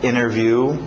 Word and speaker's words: interview: objetos R Reporter interview interview geralmente pronúncia rápida cai o t fica só interview igual internet né interview sem o Story